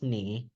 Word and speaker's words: 你: Oh, by the way, the pronoun for you is pronounced ni, and the pronouns for them or him, but also her, is pronounced ta.